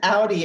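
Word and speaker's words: Audie: So, what's an Audi Award nominated playwright? Is that how you pronounce it? Audi, yes.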